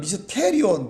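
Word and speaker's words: μυστήριον: 헬라어에는 미스테리온 뒤에 억양이 있는데 영어에는 억양이 앞에서 미스터리예요.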